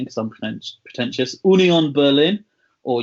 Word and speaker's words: Union Berlin: I'm going to do the correct pronunciation because I'm pretentious. Union Berlin, or Union Berlin if you were going for an anglicised version.